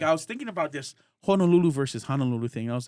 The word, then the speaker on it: Honolulu: of our language so if I tell you that it's Honolulu you pronounce it Honolulu not Honolulu like your names like